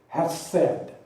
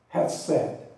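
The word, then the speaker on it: hesed: word I'd like to consider is the word pronounced in Hebrew has said has said and it's simply transliterated h es e d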